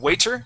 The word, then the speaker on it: waiter: what will you do so sometimes we say we say we pronounce that t like a d so let's let's have